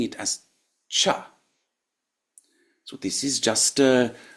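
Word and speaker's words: छ: the equivalent aspirated sound. Cha. This should be much stronger than you think. Most of you, even from though you're all from different backgrounds, will probably pronounce this one too softly.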